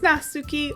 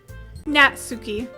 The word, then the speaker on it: Natsuki: back towards the other girls anyway this is nasuki always full of energy I'm checking that name actually natsuki heard it here thank you YouTube pronunciation anyways